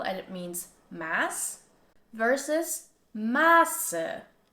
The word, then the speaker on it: Maße: Like for example in the word Masse, which is pronounced with a short vowel and it means mass, versus Maße, Maße, which has a long A sound and this means measured.